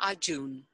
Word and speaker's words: Arjun: Yeah, so if I say A-R-R-R-J-U-N and then pronounce it. Arjun. So this sounds better than the earlier one. So I can modify it using this phonetic spelling and I can save it.